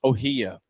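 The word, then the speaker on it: Ohiya: One more time, how do you pronounce it? Ohia. O H I Y A.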